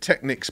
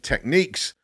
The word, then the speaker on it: Technics: is that i'm british i've said technics my whole life jay does the same now i know the official pronunciation is techniques but i'm too old to change how i say it now so technics it